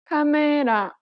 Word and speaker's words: 카메라: But in Korean, each syllable is pronounced for the same amount of time and gets equal stress. Listen to the word camera in Korean. 카메라, This principle applies throughout